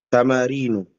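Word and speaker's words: تَمَارِينُ: Tamarinu. Ya, ini bacanya tamarinu, walaupun gak ada alnya ikhwan. Karena ulang-ulangi lagi. Kenapa? Karena dia adalah ismul ladzi la yansarif.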